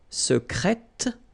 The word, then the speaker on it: secrète: Okay, so I tend to insist a little bit on it just to make you hear the difference between the masculine. Secret, secrète. Okay, so you're pronouncing the T.